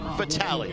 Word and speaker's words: Vitale: You see that last name and you go, wait a minute, it's Detroit Mercy, it's Vitale, that's our Dick coach, right? No. Dan pronounces his last name Vitale, 3rd year as the head coach of the softball program at Detroit Mercy.